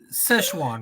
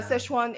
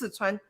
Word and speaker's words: Sichuan: was awesome it was awesome i loved it sichuan right is the correct pronunciation english would be uh szechuan and chinese that's sichuan i called it i didn't call it like